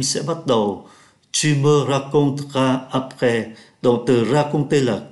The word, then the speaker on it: raconteras: Thay vì phát âm là raconteras, người ta phát âm nhanh. Tu me raconteras après.